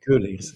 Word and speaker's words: Keuleers: leaves cool yes okay coolies yeah well typical uh Dutch vowel which is a very unusual in other languages yeah you're Belgian right